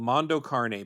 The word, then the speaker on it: Mondo Cane: It was called Mondo Carne, but it's spelled Cane, so it looks like Mondo Cane.